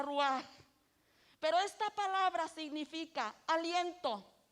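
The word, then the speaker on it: רוח: estos muertos y vivirán la palabra espíritu es en el hebreo una palabra que se pronuncia rúa pero esta palabra significa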